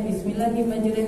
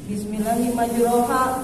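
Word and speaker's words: بسم الله مجراها: baca doa naik kendaraan ada yang bacanya bismillahim majure Eh pas baca di Qurannya Bismillahi majraha padal ah itu apa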